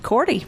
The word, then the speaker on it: Korte: My guests today are Riverfest Executive Director DeAnna Korte. You said it right the first time. Korte?